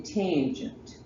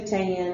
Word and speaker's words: tangent: it cos and then tangent t in g tangent sine cosine tangent and you say the whole thing when you're talking about if you just say tan it's going to sound weird and you don't want